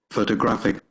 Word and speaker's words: photographic: Photographic. You Photographic. can see the stress is on the third syllable, and you see G-R-A-P-H.